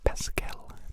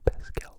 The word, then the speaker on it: Pascal: It's Pascal, like the unit of measure, Pascal, 1 kilopascal, please.